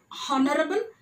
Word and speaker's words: honorable: In honest, H is silent. Don't say honest. And even same thing with the, it's not honorable, it is honorable.